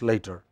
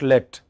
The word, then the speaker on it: late: Yeah, it is not let. What is it? Late. It should be late.